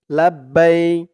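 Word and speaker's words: لبيك: জন্য চিহ্ন দিয়েছে তো আপনারা এখানে থেমে পড়লে উচ্চারণ করবেন লাব্বাইক এরকম লাব্বাইক আল্লাহুম্মা লাব্বাইক এরকম করে বাই বলে এক আলিফ টান দিয়ে এই কাফকে ধরবেন কাফের উপরে জবরটা সাকিন করবেন লাব্বাইক লাব্বাইক আল্লাহুম্মা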